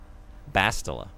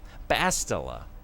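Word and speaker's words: Bastila: I said it wrong both times. Bastilla. Bastilla.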